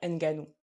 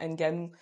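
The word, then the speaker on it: Ngannou: Si on se place d'un point de vue européen, on va dire Enganou du boxeur. J'ai dit j'ai pas du catcher. OK, shame on me. Mais bon bref voilà. Alors que bah quand tu te places d'un point de vue africain, tu ne prononces pas tu ne tu ne prononces pas pardon Nanu. Le N c'est pas un N que tu lis comme dans l'alphabet.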